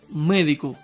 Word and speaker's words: médico: Como ejemplo, tengo esta palabra, médico. La sílaba tónica es me, que es la antepenúltima y siempre lleva tilde.